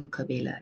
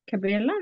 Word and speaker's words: Cabella: I couldn't go to Kabela yet. It's Cabrela. How do you spell that? CABELLA. Oh, C-A-B-E-L-L-A.